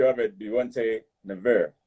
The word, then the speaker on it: Navire: Navire, because a lot of people Navire. say my name Navire. It's Navire. Navire.